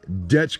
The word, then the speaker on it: DECH: seen one that is spelled d-e-c-h and you pronounce it dutch not dash we're learning all kinds